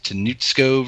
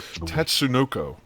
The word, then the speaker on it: Tatsunoko: gave I'm GNA Slaughter this tanco versus Capcom tatco I'm a terrible pronunciation ultimate All-Star tatsunoko tatso you were close you're were close I know that is